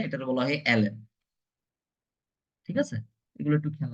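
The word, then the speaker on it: ln: এই যে আপনাদের যদি ভাইবা বোর্ডে এই এইটার প্রোনাউন্স কে জিজ্ঞাসা করে আপনারা অবশ্যই জানেন এটারে কি বলা হয় এটারে লন বলা হয় না এটারে বলা হয় এল এন ঠিক আছে এগুলো একটু খেয়াল রাখবেন ছোট ছোট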